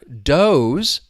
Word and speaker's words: does: Now, the other doze is just referring to a female deer. Doze. You hear that long o sound? Doze.